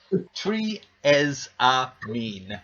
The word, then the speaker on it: Triezamine: So I wrote Triezamine as it's spelled, and then underneath I just wrote TREE dash EZ dash A dash MEEN. Triezamine.